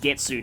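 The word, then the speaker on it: 月: I think it's normally pronounced Getsu now, when it's used to refer to months.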